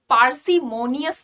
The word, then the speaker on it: parsimonious: parsimonious parsimonious ध्यान दो, parsimonious spelling में you have r here, ठीक है, स्पेलिंग में you have r here। तो हम जब इसे बोलते हैं ना तो हम पार्सिमोनियस नहीं बोलेंगे, पार्सिमोनियस नहीं